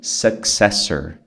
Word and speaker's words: successor: O sucessor é o successor. A pronúncia é successor. Como tem esses dois Cs, você fala successor. É que nem a palavra sucesso, né? Success. Success.